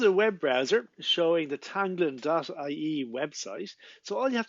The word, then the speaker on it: teanglann: so this is a web browser showing the tanglon.ie website so all you have to do to find the site is go to tanglon.ie and you'll see it's spelt here t e